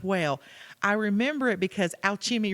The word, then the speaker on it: Alchemy: She goes, "Well, I remember it because Alchemy rhymes with Applebee's."